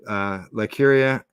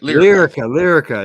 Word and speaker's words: Lyrica: The drug or medicine known as ketamine, ketamine 2, demonstrated up to 112% more effective results than Lycuria, and 70%. What's that? Lyrica, right? Lyrica.